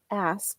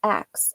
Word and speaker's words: ask: pronouncing the word a-s-k ask instead of pronouncing it as ask they pronounce it as X oh I have to